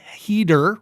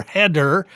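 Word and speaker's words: Heder: and directed by sean sean heater or header but i believe it's heater i'm not 100 percent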